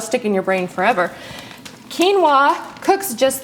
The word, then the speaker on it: quinoa: called organic quinoa quinoa when you look at how it's spelled it looks like it said quinoa nope it's actually quinoa and it's actually known